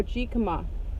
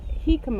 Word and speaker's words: jicama: that what is it it's pronounced Oh he'd come he come ah Thank You hummingbird and I'm are he come okay James look at okay like in the language he come up he